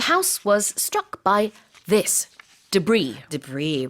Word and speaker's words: debris: The house was struck by this debris. Debris, right. Debris is scattered pieces of waste or remains. 그래요. DEBRIS이지만 불어에서 온 표현이고요. 이거 S 발음하지 않습니다.